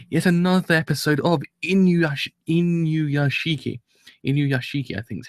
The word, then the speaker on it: Inuyashiki: Inuyashiki, I think is how you pronounce it correctly.